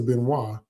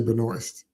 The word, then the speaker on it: Benoist: Remember on the TV show with Melissa Benoist, because I refuse to say Benoist. That's a French name, and I heard her say it properly once, Benoist, so I'm not going to say Benoist.